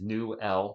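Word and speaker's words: Newell: watch uh as newel it's new L not new ASA new L I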